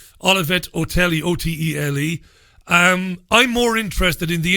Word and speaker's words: Otele: Her name is Olivette Otelli. Olivette Otelli, Otele.